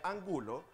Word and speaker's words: Angulo: Si tu apellido se pronuncia Angulo, se escribe tal cual, no lleva acentuación, porque es una palabra grave que termina en vocal.